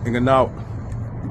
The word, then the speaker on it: Ngannou: Did you see the Fury versus Francis Ngannou? Did not. I seen it. I seen. Shout out to, let's pronounce his name right.